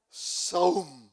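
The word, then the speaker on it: sawm: Saum, se escribe S-A-W-M, Saum.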